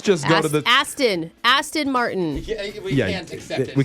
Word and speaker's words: Aston Martin: James Bond drive in most of his movies Martin Aster Martin is that how you say it that's an